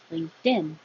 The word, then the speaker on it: LinkedIn: However, if I said LinkedIn, I would be making a T and a D right next to each other. So just get rid of the T. LinkedIn, LinkedIn. The T changes to a D because it's between two voiced sounds.